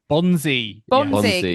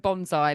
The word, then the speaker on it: Bonzi: Bonzi, yes. I once called him Benjamin Bonsai, like a bonsai tree, which I have never been able to live down.